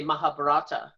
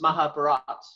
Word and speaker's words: Mahabharata: read yeah my my understanding i apparently i pronounce it wrong because i say mahabharata so it's mahabharata yeah usually the the final a in a